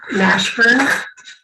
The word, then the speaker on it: Mashburn: name and well state your name and then spell it for the record please yeah my name is karen nashburn k-a-r-e-n r m-a-s-h-b-u-r-n and i apologize karen was